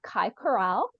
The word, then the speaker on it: Kai Corral: So tonight we have Kai Corral. Did I say it right? Yes, you said it right.